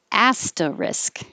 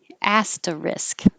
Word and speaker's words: asterisk: i never remember that there's an s and at the end like risk asterisk asta risk and um yeah if